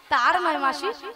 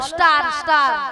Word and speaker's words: স্টার: তার নয় মাসি, বলো স্টার, স্টার।